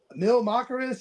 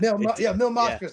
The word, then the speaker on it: Mil Máscaras: It looked like a mix between like Mil Máscaras and like La Parca. The Mil Máscaras? Yeah. Mil Máscaras. I said his name wrong.